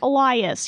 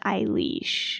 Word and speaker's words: Eilis: Little League team, and they would be like, Elias, you're up. Elias. Yeah. So that was hard. But apparently my parents didn't know how to properly pronounce it until the milkman came by after I was born. And they were like, this is our new daughter's name. And he was like, oh, you say that, Eilis.